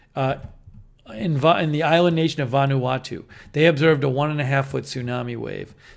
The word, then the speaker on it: Vanuatu: .5 foot tsunami wave observed in Vanuatu, I think is how you say it.